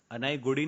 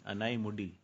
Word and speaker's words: Anaimudi: अनाईगुड़ी नहीं है, ANAIMUDI, मुडी, अनाईमुड़ी।